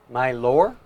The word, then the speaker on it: Mylor: milbar all right mylor my lore my lore spell it again m-y-l-o-r wait i misspell it m-y-l-o-r yes my lore like my lord but you know got too lazy to finish the sentence well my lore as